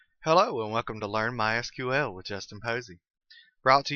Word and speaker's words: MySQL: as you can tell I've been calling it MySQL that is the correct pronunciation however it is also commonly called my